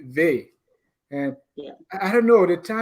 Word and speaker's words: Vai: We all say Vi, but it should be Ve.